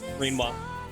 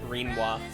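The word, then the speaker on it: Rinoa: Shall I like it because I can pronounce her like quinoa, and I find that funny. Yeah, Renoir. Her name is Renoir.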